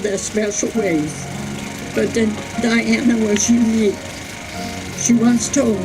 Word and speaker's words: Diana: One thing that would upset Diana is when somebody called her Diane or spelled her name wrong. She would correct them and tell them that her name was Diana.